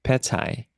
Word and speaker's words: pad thai: Pad thai.